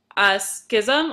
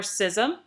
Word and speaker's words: schism: Schism or schism, you can pronounce it either way.